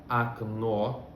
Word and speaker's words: окно: Mas quando a letra O não está em uma sílaba tônica, a gente pronuncia ela como um A.